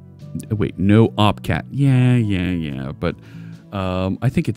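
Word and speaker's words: nohup cat: It's pronounced Noopcat.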